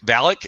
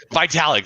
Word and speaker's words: Vitalik: thanks uh avolyak vlog valik is that how we pronounce it well i don't know the vitality vitalik there it is uh thanks bud